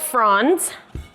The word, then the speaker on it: fronds: As you can see, these guys are called fronds, rhymes with pond.